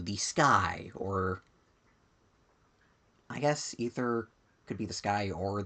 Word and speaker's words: Aether: I believe technically it's supposed to be ether even though it's a ae, which I always kind of go aether, but yeah.